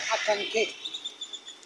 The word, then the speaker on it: Acanqué: pero se pronuncia acanqué.